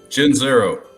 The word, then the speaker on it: Gianzero: Gianzero.